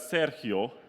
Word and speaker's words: Sergio: It's actually pronounced as Sergio.